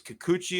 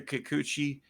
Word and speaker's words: Kikuchi: the specifics on why the Astros went after Kikuchi is how you say it, I believe. I think so, yeah. Why they went after Kikuchi.